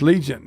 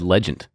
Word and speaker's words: Legent: Just like Freddie's learning with his, we learned a lot for this Legent.